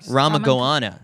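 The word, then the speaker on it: Ramakongoana: Ramagoana is how you pronounce that.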